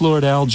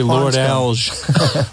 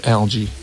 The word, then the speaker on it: Lord-Alge: well yeah it's chris lord-alge ii okay I was wondering because uh I've been there you want to say Laura Dalles or something but it's algae and when what is